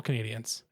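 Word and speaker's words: Canadiens: is silent like it's don't mispronounce the name. It's Montreal Canadians. It's it's like it's a U not an O. You don't draw it out. It's it's a very tight first syllable. And then it's spelled with an e Canadians cuz that's the French spelling. So it's Canadians like you know people from Canada.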